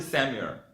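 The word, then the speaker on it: Samuel: 넣어서 구별하는데 사무엘 상 을 영어로는 1st 쎄무 열이라고 읽어요 한번 따라해 보겠습니다 1st 샘 욜 다시한번 요 1st 3 뮬 다시한번 1st 3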